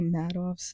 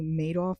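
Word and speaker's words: Madoff: I think I said Bernie Mattov's name wrong. I think it's pronounced Bernie Maidoff, but it fit.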